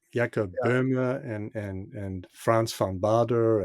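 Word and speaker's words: Jakob Böhme: I think there's some talk about uh is it is it is it Yaka Burma? Is that how you say his name? Yeah. Yakob Burma and and and France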